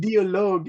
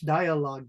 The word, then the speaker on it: dialogue: uh uh Lisa said, "Dollogue." You know, Henry, that's the German pronunciation. Dologue. So, that's why I was kind of smiling. Lisa, you're saying it the German. So, due. So, in English, dialogue.